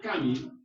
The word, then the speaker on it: Camus: sino que se pronuncia Camus. No sé por qué, pero se pronuncia Camus. Pero es Camus. Albert Camus. ¿Con K o con C? Con C. Albert Camus o Albert Camus.